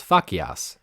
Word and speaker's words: facias: Facias in classical Latin would be pronounced as facias, since C was always a hard C. But in medieval Latin, it's become a bit closer to C's in modern Italian, where if certain vowels follow it, then it becomes a ch sound.